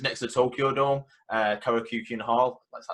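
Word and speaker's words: Korakuen: at the just next to the Tokyo Dome, Karakyukin Hall. That's how you pronounce it.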